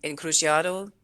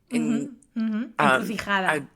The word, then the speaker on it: encrucijada: And then Crossroads as well, which was in Encrucijado. Encrucijada.